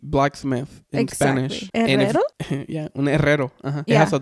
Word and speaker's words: herrero: Yeah, un herrero. Uh-huh. Yeah. It has a double R on it, so you have to triple R, but it has a syllable where it has those R.